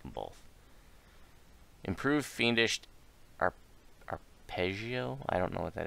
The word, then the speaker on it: arpeggio: Peggy Oh will here here's how it's pronounced I pity you arpeggio the notes of a